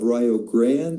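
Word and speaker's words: Rio Grande: to the University of Rio Grand. And by the way, that is the correct correct pronunciation in Welsh.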